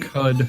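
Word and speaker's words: Qud: Q-U-D. Cud? I've heard Cud for that, yeah.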